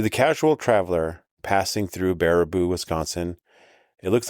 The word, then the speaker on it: Baraboo: Baraboo. Baraboo.